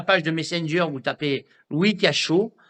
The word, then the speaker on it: Louis Cachot: Vous allez sur la page de Messenger, vous tapez Louis Cachot, comme ça se prononce, un cachot, et vous lui demandez.